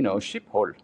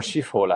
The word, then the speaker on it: Schiphol: In German, it would be, Schiphol, or Schiphol, actually, probably. Mm-hmm. But in Dutch, it's Schiphol.